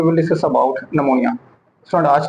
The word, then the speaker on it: pneumonia: में हमने डिस्कस कर लिया था आज हम निमोनिया के बारे में डिस्कस करेंगे जो यह टर्म